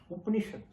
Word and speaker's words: Upanishad: See, Upanishad, there it has U-P-N-A. That A is swallowed. Upanishad.